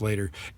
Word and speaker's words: l8r: by BOS Digital Labs called later l8r and pronounce later it approximates the concept